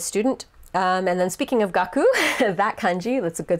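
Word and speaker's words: 学: kun yumi of that so gaku would be the onyo me but the kung yomi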